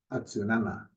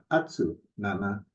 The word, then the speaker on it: atsunana: So it starts out with atsu, but it's not atsu nana, it's atsunana. Where the concept is the second to the last syllable is where the accent kind of comes in.